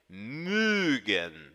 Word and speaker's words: mögen: que eu estou falando, imagine uma vaca mugindo. A vaquinha faz mü, e é exatamente este o som que esta sílaba tem. Mögen, mögen.